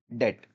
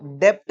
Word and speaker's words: debt: वो नाम है बैड डेट। क्या नाम है? बैड डेट। इसको डेप्ट नहीं पढ़ना अपने को, बी साइलेंट रहता है, ठीक है, डेट, डीईटी डेट, ठीक है, डी बी साइलेंट रहेगा, बैड डेट।